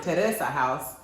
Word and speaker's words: Terrace House: If you guys know about Terrace House, also the Japanese pronounce it Teresa House, and it's on Netflix.